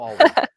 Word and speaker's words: Allred: I always get his name wrong. Michael Allred.